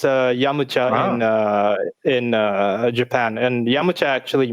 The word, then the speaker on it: Yamcha: for yamcha wait yeah that's the pronunciation in japanese like the proper one uh well the proper one would be yamucha yeah what what is it in your region no yamcha but i i i